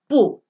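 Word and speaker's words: 不: So like for example, if it's after B, after bo, it's pronounced bu. So like the word for not is bu.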